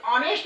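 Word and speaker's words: honest: और इसका जब हम प्रोनाउंसिएशन करेंगे तो EHONEH ऑनेस्ट मैन, इसको हम प्रोनाउंसिएशन करेंगे तो ऑनेस्ट मैन के नाम से इसका प्रोनाउंसिएशन करेंगे।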